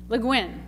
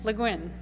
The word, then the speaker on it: Le Guin: the green how do you say her name Le Guin Le Guin Ursula Le Guin the dispossessed um so this is the young